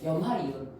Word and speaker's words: 염화이온: 소로 끝나는 애들은 소를 지우고 화이온으로 붙여야 돼. 그러니까 뭐라고 읽어야 돼? 염화이온.